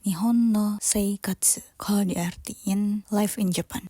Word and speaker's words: 日本の生活: ada yang tahu enggak kanjinya judul Kita dibacanya apa Aku ngerasa sambil belajar dikit-dikit kali ya kanji itu tuh bacaannya nihon no Sei Katsu kalau diartiin life in